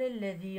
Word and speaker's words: الذي: غادي ندوزو السؤال الرابع، أحيط الاسم الموصول الذي نطقت لامه وحذفت عند الرسم. إذا الاسم الموصول اللي تنطقوا اللام ديالو ولكن ما كنكتبوهاش، غادي نديروا عليه دائرة.